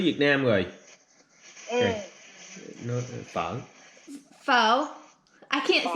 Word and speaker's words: phở: Nó phở. Pho. I can't say it right. Phở. I say pho, but he says it's pho.